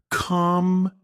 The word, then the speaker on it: computer: For example, in the word computer, we stress the second syllable computer. If you stress the wrong syllable, the word can sound strange or even wrong.